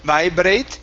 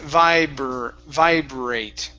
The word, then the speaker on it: vibrate: Okay, give me a good BR here. Instead of vibrate, it's vibrate. Vibrate.